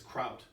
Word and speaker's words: Kraut: It's kraut or kraut? It's kraut. Kraut. Like sauerkraut.